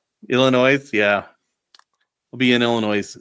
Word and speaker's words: Illinois: You didn't pronunciate the S. Illinois.